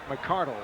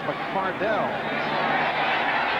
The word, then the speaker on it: McCardell: burnell all season long he was keenan mcardle last year and now has changed the pronunciation he told us yesterday that his dad actually wrote a letter to the jaguars pr director dan edwards to tell him of the correct pronunciation mccardell the fly pattern willie